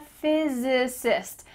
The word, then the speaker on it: physicist: Or I'm a physicist. There's different syllables here, so say it with me. Physicist. I'm a physicist.